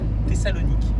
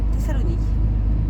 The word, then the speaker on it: Thessalonique: Ah, ça se prononce comme ça, d'accord. Thessalonique. Thessalonique.